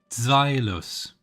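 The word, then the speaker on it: Zweilous: Zweilus. Zweilus. German pronunciation, right? Because it's zwei, like the other was eins, zwei, and then the last one is drei.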